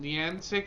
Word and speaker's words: Niantic: Was it Niantic, I think? Yeah, that's how you pronounce the name.